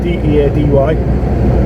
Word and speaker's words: Deady: He's well, it's spelt Deady, as in D-E-A-D-Y, 2012, but he pronounced it Deady.